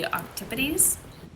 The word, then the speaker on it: octopodes: octopus, it would be octipodes. Octipodes not. Sorry. It would be spelled like octopodes, basically, but octopodes or octopodes.